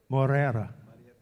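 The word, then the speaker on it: Moreira: How do you pronounce that, Fred? Morera.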